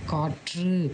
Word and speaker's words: காற்று: ஆனால் இந்த வல்லின ரகரம் அதோட மெய்யெழுத்தோடு வரும்போது எப்படி சொல்லணும் அப்படின்னு பார்த்தீங்கன்னா, இப்படி உச்சரிக்கக்கூடாது. இது வந்து அழுத்தி உச்சரிக்கக்கூடாது. காற்று, காற்று அப்படின்னு நம்ம அழுத்தி சொல்லக்கூடாது. அதுக்கு பதிலாக இப்போ நம்ம இங்கிலீஷில் வந்து பார்த்திங்கன்னா 2 டி, சிட்டிங், கட்டிங் அந்த மாதிரி வருது இல்லையா? அந்த அந்த சவுண்டு வர மாதிரி நம்ம இங்கே சொல்லணும்.